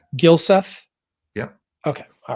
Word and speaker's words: Gylseth: Let me make sure I have your name pronounced right. Is that right? That is correct. Gylseth?